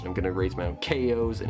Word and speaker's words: Chao: gonna raise my own kos and it's gonna be awesome because i love the kos and it's pronounced ko and not ciao because it comes from the word chaos fun fact but unfortunately